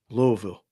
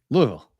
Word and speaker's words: Louisville: this is not usual Louisville pronouncing it wrong Louisville Louisville Louisville with Southern do Southern slang is that how you have to say it Louisville Louisville Louisville you mumb you Mumble it Louisville oh gotcha okay